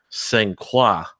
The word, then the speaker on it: Saint Croix: But like our friends from like Canada or some of our French-speaking friends, they would absolutely lose their minds, say it's pronounced Saint Croix.